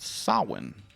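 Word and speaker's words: Samhain: they started doing this crazy stuff it's called saw one and it's but it's spelled like this and it's so you might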